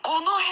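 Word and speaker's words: 五戸: 、そう、五戸って読むんです。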